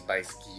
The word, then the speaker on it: Bykski: Yeah, I think it's Bykski. Yeah, that's how you pronounce it.